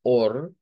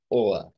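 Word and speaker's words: Ohr: el caso del Dodge tenemos dos pronunciaciones una hacerla como r del español r fuerte como or or y otra es haciéndola con esa a media que ya hemos visto que llega a reemplazar a veces a las eres cuando están al final de las palabras y decirla como o o bien Podría ser así como or o bien como oa ahí el acento que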